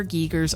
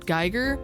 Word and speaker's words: Giger: The one cohesive thing that ties these two games together is the prevalent use of HR Giger's artwork, but we covered all of that in the previous video.